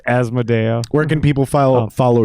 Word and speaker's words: Asmodeia: say it you'll figure it out but it's asmodeum where can people follow follow you if they